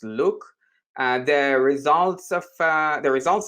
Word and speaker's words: LIWC: when you use liwc which is by the way pronounced look the results of the